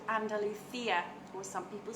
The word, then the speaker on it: Andalusia: our region is called Andalusia, or some people say Andalusia, depending on whether you spell it with the C or with the S. So I'm bilingual, so I pronounce it Andalusia, and that is the region that I am in.